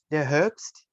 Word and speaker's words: Herbst: Yeah, der Herbst. Is that how you pronounce it?